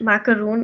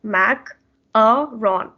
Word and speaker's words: macaron: thing it's like a small dart so it's pronounced macaroon in english but then in french you should actually say it as mac a ron macaron and then next is crepe a crepe